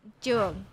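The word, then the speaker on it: trường: in vietnamese you ask it is jung jun jung yeah it's like uh like the month of june i kind of i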